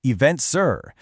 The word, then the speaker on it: EventZR: This is part of the Eventful World 2026 series by EventZR pronounced Event Sur where we are covering 249 destinations where live events absolutely define the travel experience.